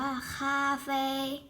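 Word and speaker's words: 咖啡: กาแฟ กาแฟ นะ คะ ภาษา จีน อ่าน ว่า ค่า แฟร์ Cafe Cafe นะ คะ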